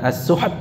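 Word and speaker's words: السحت: Ya, bukan as-suht, tetapi apa? As-suht. Ya. Ya, taknya mana? Hilang, jangan sampai hilang. Ya, aliran nafasnya saja. As-suht. Ya. Begitu cara membacanya.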